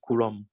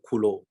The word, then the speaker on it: Coulomb: the color force now you can read it coulomb or kulo normally it's the french name so people can read it cool you don't have to pronounce m and b here you can call cool